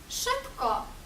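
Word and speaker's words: szybko: позначають один звук наприклад sз прочитаємо як ш ш наприклад у слові шибко швидко шибко ш це з читаємо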